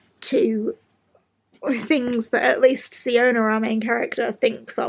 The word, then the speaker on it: Siona: Our main character, Siona, I think it's pronounced Siona.